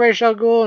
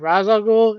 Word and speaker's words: Ra's al Ghul: Scarecrow facing Rochelle ghoul why i call them Rochelle cool instead of Ra's al Ghul is that's how they pronounced in the animated series and that's how i'm going to pronounce it so deal with it um